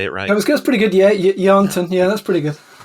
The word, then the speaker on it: Yarnton: Yeah, Yarnton, yeah, that's pretty good.